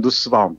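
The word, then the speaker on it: Nussbaum: 어제 말씀드렸듯이 마사 누스바움 또는 마사 너스바움이라고 발음도 하던데요.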